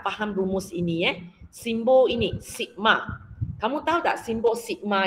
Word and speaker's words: sigma: So simbol ini baca sigma, S-I-G-M-A, sigma, cara baca.